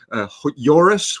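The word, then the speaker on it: Joris: he's worth looking up yurus which is spelled with a J and then Hof nugle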